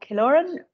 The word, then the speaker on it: Killoran: I'm now delighted to hand over to korin from exodo over to you great stuff hi everybody um thank you for pronouncing my name correctly most people make AES